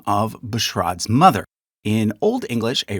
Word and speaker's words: Bushrod: Now, Bushrod, which I mistakenly pronounced Bushrod last time, to the amusement of many, is a rare name.